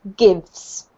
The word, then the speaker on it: gives: This one here is one syllable. It's just pronounced gives. Give.